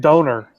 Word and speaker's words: donair: Yeah, and I think it's pronounced donor.